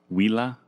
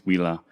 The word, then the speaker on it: Huila: And I think it's pronounced, I always mess this up, Huila. I think it's Huila, but it looks like it says Julia.